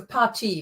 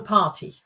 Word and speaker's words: Partie: Yeah, not that obvious, but yeah, the emphasis is more on the second syllable. So möchtest du eine Partie Schach spielen? Partie. Yeah, it's not a party.